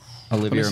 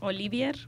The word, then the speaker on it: Olivier: Olivia Martinez. Can we bring up his picture, Cody? Who? What's his name? Olivia Martinez. Okay, because I like it's Olivia? Pronounced Sewan. Olivier. Olivia. Like Lawrence Olivier.